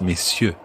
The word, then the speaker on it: messieurs: And note that you don't pronounce the R in messieurs like that. It's messieurs.